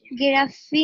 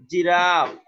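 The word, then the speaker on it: giraffe: বলো বলো আবার বলো গিরাফি না এটা দেখো আমি এই শব্দটা দেখার জন্য বলি না আমি বলি এটা দেখার জন্য জিরাফ দেখো উচ্চারণটা কি উচ্চারণ দেখতে হবে তোমাকে ঠিক আছে এটা হচ্ছে উচ্চারণ তাইলে জিরাফ জিরাফ উচ্চারণটা এজন্য আমি দিয়ে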